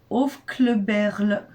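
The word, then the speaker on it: Aufkleberl: C'est Hofkleberl. Ouais, alors bon bah voilà, vous avez tout compris. Alors ça s'écrit A-U-F-K-L-E-B-E-R-L.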